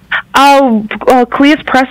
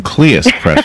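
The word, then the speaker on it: Cleis Press: Kleiss Press, we're based in Jersey City, so right next to New York. Thank you for correcting my pronunciation. Kleiss Press, okay.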